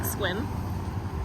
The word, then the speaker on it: Sequim: the Mobile station outside Sequim I believe you pronounce it squim um and the cashier